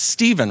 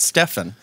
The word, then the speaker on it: Stephen: a show here tonight it's Steven right it's not Stefan Stephen it's spelled with it's spelled like Stefan but it's Stephen uh Kellogg and then